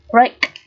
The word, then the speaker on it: break: i dài rồi này Break Break làm vỡ đánh vỡ đây là âm a e đây được phá phát âm là âm a a sẽ là phiên âm là E và i ngắn A Break tiếp repeat là